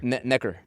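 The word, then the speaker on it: Necker Island: So, Richard Branson, am I saying it right? Necker or Nectar? Neker. Neker. Yeah, Neker Island.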